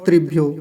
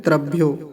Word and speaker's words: त्रियो: इसका ध्यान रखेंगे और त्रियो कुछ लोग बोलते हैं त्रयो ऐसे करके त बना के उसके नीचे र ऐसे बना देते हैं त्रयो कह देते हैं तो यह त्रयो नहीं है त्रियो है त्रियो त्रि त का